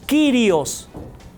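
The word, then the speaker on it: κύριος: En griego, la palabra que se usa es Kyrios.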